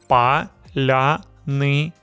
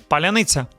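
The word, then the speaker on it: паляниця: The correct pronunciation is Palianytsia. Palianytsia. Stress is on the second to last syllable. Palianytsia. The lia is soft. The tsa at the end is also soft.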